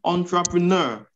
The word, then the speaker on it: entrepreneur: And I'm going to use the same example, entrepreneur. Now, my focus will be on the second E. Second E. Yes, schwa. Entrepreneur.